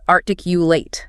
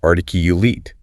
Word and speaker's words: articulate: Oh yeah, the verb is articulate, long A. But the adjective is articulate, short I.